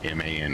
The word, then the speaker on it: MAN: And yes, I said it wrong. MAN engine, not MAN engine.